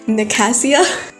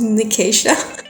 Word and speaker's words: Nicasia: was calling I was calling her Nasia and it sounds so weird now that I say it out loud, but that's how I sing in my head. And I looked it up and it was Nicasia.